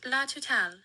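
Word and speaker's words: La Totale!: It's pronounced La Totale. La Totale. Okay. The E is silent.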